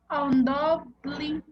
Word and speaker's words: undoubtedly: how do you pronounce undoubtedly?